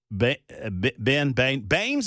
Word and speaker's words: Baines: world and the Afton Baines of the world, I remember her last name's pronunciation because it's like the evil guy in the Batman movie. That's Bane, right?